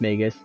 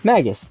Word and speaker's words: Magus: to call him too I'm pretty sure it's supposed to be pronounced Magus because it's um an already made word and I think that's that's how it's supposed to be pronounced but I call Magus or I used to call Magus because you know like magic but magus yes that was my logic yeah feels like